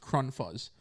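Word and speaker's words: Krunfuss: it was like k-r-u-n-f-u-s-s but it was like german it was pronounced kron fuzz and uh he was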